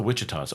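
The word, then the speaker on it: Ouachita: How do I not know that mountain range in Oh, it's the Witchah. Oh my gosh. The Witchah in Arkansas.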